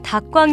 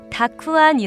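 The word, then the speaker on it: たくあん: 으 폭식 단무지를 다 꽝 이라고 부르는 걸 본 적 있으신가요 단무지가 본래 일본 음식이기 때문에 일본식 발음으로 다 꽝 이라고 부르기도 하는데요 정확한 일본 발음으로 는 다크 아니 라고 부른답니다 그런데 닥후 않은 일본의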